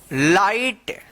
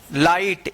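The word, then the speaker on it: light: पढ़ेंगे फाइट फाइट एल आई जी एच टी लाइट क्या पढ़ेंगे इसको? लाइट। यहां पर जी एच जो है ना साइलेंट रहेगा।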